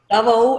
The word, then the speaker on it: Davao: Davao, is that how I pronounce it? Yeah.